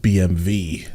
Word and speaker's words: BMW: I guess it can also be German, because I think they do pronounce their W's in like V. So this is why, like, in America we would call a BMW, but I think it's like BMV, actually.